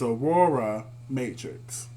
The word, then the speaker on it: Aurora Matrix: Say it, Aura. Aura. Aurora. Aura? Is it Aura. Aura or is it Aurora? It's Aurora Matrix.